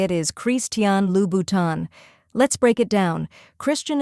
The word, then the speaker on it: Christian Louboutin: alone the correct way to say it is chrisan lhan let's break it down Christian is pronounced with a slight French flare as cre